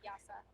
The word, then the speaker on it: Yasah: Oh, I said Yasah. Yes, that is how you say it.